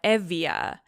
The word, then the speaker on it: Euboea: accurate ancient pronunciation - but Euboea, you know the island, they call it evia and Boeotia which is